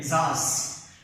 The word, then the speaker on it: Tsar: They were popularly known as T is the silent here. Tsars. Tsar is the pronunciation. The pronunciation is Tsars.